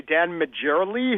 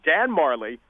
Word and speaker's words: Majerle: The layman might say Dan Majerle, who is this guy? But he is Dan Marley.